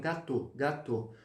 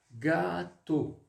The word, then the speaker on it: gâteau: Esse circunflexozinho no A, principalmente, antigamente, ele dava o quê? A pronúncia, ela fazia... para que a pronúncia ficasse um pouquinho mais alongada. Então, por exemplo, un gâteau au chocolat. Mas atualmente a gente já fala direto, un gâteau. Mais auparavant, mas antigamente, mas antes, falava-se muito assim, ó, gâteau.